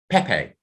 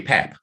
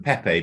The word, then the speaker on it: Pepe: like pepe of portugal who is really pep but when he started his career whoever was commentating on him didn't get the correct pronunciation and it didn't become clear until later that he was actually pep rather than pepe by which time the whole world knew him as pepe so if you suddenly